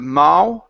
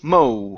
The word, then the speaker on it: mow: to the word Mo instead of ma ma it's o Mo okay Mo okay MO